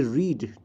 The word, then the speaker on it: read: ये रीड, ठीक है, रीड फर्स्ट फॉर्म है, रेड इसका सेकंड फॉर्म है, स्पेलिंग सेम ही है।